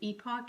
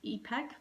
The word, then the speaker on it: epoch: depends on your pronunciation i believe the british version is epoch and the us version is epec for pronunciation but both are correct and then it's got